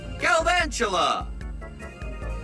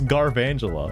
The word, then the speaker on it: Galvantula: I I thought it was garangela. Why is it galvangela? Is it for like galvanize? Joltic. Galvantula.